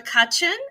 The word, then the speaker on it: Cutchin: and the Beast I am talking about Joshua kutchen I hope I pronounced your name right okay he nodded and